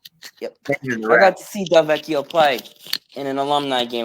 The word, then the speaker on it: Delvecchio: It says the production line alongside Sid Abel, and then later Alex DeVecchio. Am I pronouncing that? Delvecchio.